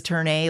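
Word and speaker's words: ∀: Well, the title is Turn A, like that's how you pronounce that symbol in math.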